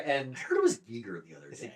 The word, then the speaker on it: Giger: Geiger. Oh, H.I. Geiger, yeah. It's like Geiger, Escher, and... I heard it was Giger the other day.